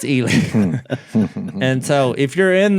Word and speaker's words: Ely: And I So was you would like, say Eli. wouldn't that be Eli? And he said, no, it's Eli.